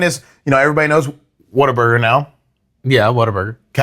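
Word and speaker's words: Whataburger: W H A T A Burger. So, I guess technically it is what a burger. What a burger. But if you're from here, it's water burger.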